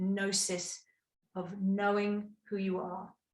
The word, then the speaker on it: gnosis: just about knowing the with the g the silent g the gnosis of knowing who you